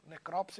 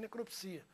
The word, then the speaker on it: necrópsia: É aquela história das palavras com dupla pronúncia. Nós temos, por exemplo, biótipo e biotipo, necrópsia e necropsia.